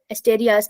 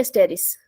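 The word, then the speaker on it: Asterias: एस्टेरिस, page number, एस्टेरियास नहीं एस्टेरिस, एस्टेरिस, हाँ ए को साइलेंट है ये।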